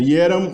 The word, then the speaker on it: eram: Ieram, ierai, iera, ieram, ieratse, ierau. Observa que o E inicial é pronunciado ie, né? Por influência eslava.